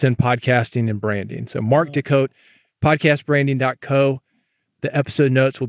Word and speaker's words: Mark Des Cotes: thing we're on podcast Mark Deco that's how to say it though so look him